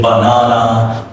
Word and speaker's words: banana: So the first A is reduce. The second one is stretch. The last one is reduce again. Reduce means Schwa sound.